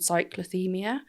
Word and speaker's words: cyclothymia: So some people, different types, the most common ones, bipolar type 1, type 2, and then there's something called cyclothymia.